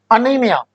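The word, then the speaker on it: anemia: अगला शब्द देखिए जरा, अनीमिया। क्या है? अनीमिया। इसको अनेमिया भी बोलते हैं लोग।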